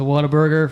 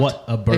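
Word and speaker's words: Whataburger: time I went to Waterburger for the very first time. Is that how you say it? Waterburg. Water. So it's like water. No. What? What a burger.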